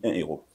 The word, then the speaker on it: héros: Quand je ne fais pas la liaison entre 1 euro et 1 euro, c'est-à-dire les mots héros s'écrit déjà avec les H aspirés.